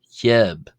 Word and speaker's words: ϩⲓⲏⲃ: It was pronounced as he. So like he so like an h or h followed by a y sound and then eb which uh meant lamb and is pronounced as he.